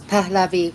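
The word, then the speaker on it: Pahlavi: up their admiration for the Palavi family, I think, is uh how that would be properly pronounced. And um it's it's rather cur curious. It's Palavi, but go ahead.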